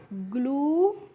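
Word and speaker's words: glue: क्लू जी एल यू ई को क्या पढ़ेंगे ग्लू और एफ एल यू ई को पढ़ेंगे फ्लू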